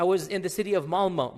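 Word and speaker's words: Malmö: And in Stockholm, if you have 10% Muslim, I was in the city of Malma. Malma is it's spelled with an O, but it's pronounced Malma.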